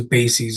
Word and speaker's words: BASES: positive result and that's typically known as bases if you ever spelled like basis but b a s e s bases um is our Innovation